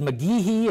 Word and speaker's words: McGeehee: This is McGeehee. It's spelled M-C-G-E-H-E-E.